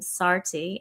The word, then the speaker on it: Saarti: But my my I partnered also with a Cambodian candle company named Saarti, S A A R T I.